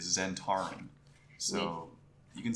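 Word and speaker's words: Zentarim: prefer my way um apparently the official D and D way is Zen Tarin so you can say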